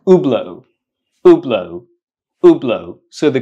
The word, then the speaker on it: Hublot: company the name of this brand do you pronounce it HBL do you pronounce it uh huat how do you pronounce it it's not pronounced HBL it's not pronounced huat it's pronounced oblo oblo oblo so the correct pronunciation is oblo